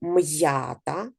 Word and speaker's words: м'ята: на кому це апостроф він указує що буква М позначає твердий приголосний звук м а буква я читається так щоб добре було чути сполучення звуків я і так коли ми пишемо слово м'ята записуємо ми буквами після